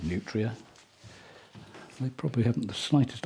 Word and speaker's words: nutria: They're called nutria. I don't know whether that's a good pronunciation. Nutria, as in like it's nutritious.